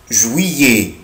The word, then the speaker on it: juillet: ici je prononce, انا بنطق السلاب ده يا ولاد, بنطق اي, فاقوله ويي. جويي, جويي, شهر يوليو.